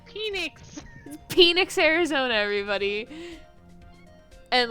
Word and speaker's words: Phoenix: six or seven um i couldn't pronounce the ph sound correctly so when i would say phoenix arizona i would say penix arizona and my mom